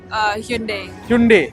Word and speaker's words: Hyundai: So what's the correct pronunciation for the brand? Hyundai.